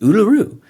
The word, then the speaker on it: Uluru: And she's like, "It's just Uluroo. How you know?"